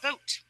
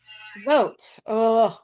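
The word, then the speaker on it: Vought: Um, and so they've used this shutdown and Russell Va I'm not sure how you say his name. It's it's actually, oddly enough, pronounced vote vote.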